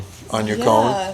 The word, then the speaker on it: yacon: Taylor, you want to touch on Yacon? Yeah, so a little bit about Yacon.